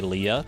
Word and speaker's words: Leia: Curious how everyone pronounces Leia since Argon says it like that. You say Leah. I'm pretty sure 99% of people say it as Leah.